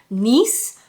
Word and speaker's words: Nice: now my partner says they're supposed to be pronounced nice as in like a like France I believe um but when I